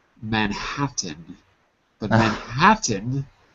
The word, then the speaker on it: Manhattan: called man Manan but Manhattan had so many te's that we just didn't say them we said M manhatt